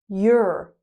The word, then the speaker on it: you're: You are. Your sounds like sure.